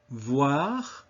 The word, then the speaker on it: voir: Voir, meaning to see. Noir, meaning black. So even if you have a consonant before that, you still put that w sound at the beginning. Voir, noir. The OU is never ow, but always oo.